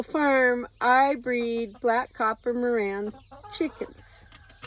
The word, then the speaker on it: Marans: And here on my little farm, I breed Black Copper Marans chickens. Always spelled with an S that you never pronounce.